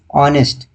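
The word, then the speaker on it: honest: यहां पर फिर से उसने दिया हुआ है ऑनेस्ट। हम पढ़ क्या रहे हैं? ऑनेस्ट पढ़ रहे हैं इसे। लेकिन लिखा कैसे है? एच आगे लगाया हुआ है। जबकि यह साइलेंट होता है।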